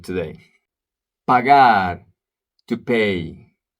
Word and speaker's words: pagar: Pagar, to pay. Sometimes people confuse pagar with pegar because they are not pronouncing the A correctly.